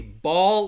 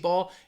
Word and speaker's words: ball: case mmm let's see ball like a bouncy ball it's really the difference in pronunciation ball is going to have that short a sound ball ball and it almost has like you're gonna hear that W in there as well ball and Bowl is that